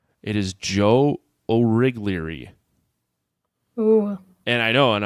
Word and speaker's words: Origlieri: It is Joe Origlieri.